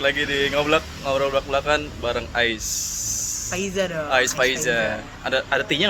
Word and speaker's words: Aiz Faiza: Bukan Tapi bukan Ais. pronunciation-nya Ya? tetap Ais Faiza. Oh iya benar. A-nya sedikit panjangin mungkin.